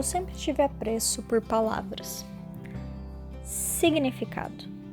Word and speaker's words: significado: Significado. São 11 letras e um G mudo. Tinha tudo para dar errado. Mas funciona. Faz até ritmo.